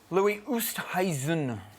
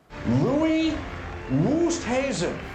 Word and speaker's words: Louis Oosthuizen: A little bit of pronunciation B. And the British Open is our theme this week. First one, please. Dave. Louis Oosthuizen. Listen, please. Louis Oosthuizen.